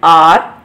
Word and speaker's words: hour: For example, an hour, an honest girl, an honorable man. So here you can see, children, these words, though they are beginning with H, but here H is silent.